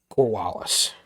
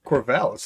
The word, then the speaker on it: Corvallis: They've really they're building something in Corvallis, if I do get my cities correct in the Pac-12. Corvallis, I believe, is how it's pronounced, but Corvallis, okay.